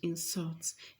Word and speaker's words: insult: it means iteration which insults and to insult this word here is a verb and we know that um uh the stress is falling on the second syllable and it means to